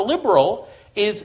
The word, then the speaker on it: liberali: The Egyptian term for liberal is, the Arabic term that's used is liberali, which is it's an English word pronounced in an Arabic accent.